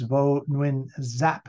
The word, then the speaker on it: Vo Nguyen Giáp: And on the left-hand side, in the tie of all things, not a very revolutionary outfit, but that is Vo Nguyen Giáp, as they pronounce it, who became sort of the military,